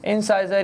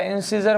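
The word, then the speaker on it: incisor: बोल सकते हैं अपन इंसाइजर। क्या बोल सकते हैं? इंसाइजर या इंसिजर बोल सकते हैं, जैसा आपका प्रोनाउंसिएशन है।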